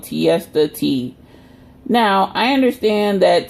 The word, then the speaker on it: Tiesta: You know, Tiesta rhymes with Fiesta, Fiesta Friday.